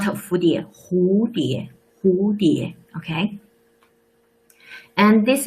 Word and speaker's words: 蝴蝶: Not 蝴蝶, it's 蝴蝶, it's H, not 蝴蝶. 蝴蝶. Please look at the pinyin. 葫芦, 蝴蝶. They all start from this letter. 蝴蝶, not 蝴蝶.